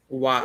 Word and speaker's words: は: It will be pronounced as Wa.